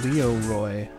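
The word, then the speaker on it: Leeroy: times it's a classic it's not even Leroy it's Leo Roy I didn't even spell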